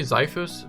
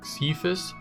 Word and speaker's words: Xiphos: i see the word i want to say zyphus but apparently it's actually pronounced cephus so we'll go with that anyways i went